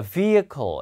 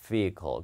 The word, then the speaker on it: vehicle: 자, vehicle. H 발음 안 합니다. 예, vehicle입니다. vehicle.